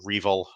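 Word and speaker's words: REvil: it's a group called revel or revel uh depending on how you want to pronounce it it's r-e-v-i-l uh and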